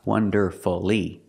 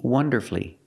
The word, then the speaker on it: wonderfully: Lee after these words so when you see Fu l l y don't pronounce that you shorten the word and make it three syllables like m F beautifully now we see wonderfully wonderfully three syllables like the others so